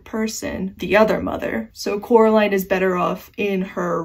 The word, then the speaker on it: Coraline: coming up so much it's Coraline but a lot of people call her Caroline you won't see it